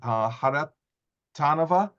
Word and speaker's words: Kharitonova: And now we'd like to hear from Irina Kharitonova. I knew to put the hard accent on the second syllable, and get some insight in her expertise.